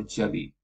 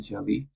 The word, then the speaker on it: jali: usually an adornment or jelly or jali, right? That's depending on how you pronounce it. It's actually jelly, and that's ornamentation, okay, of the calligraphy.